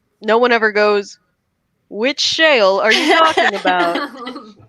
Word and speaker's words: Shale: gosh speaking of whale shale rhymes with a lot of words mail ale jail bail I just described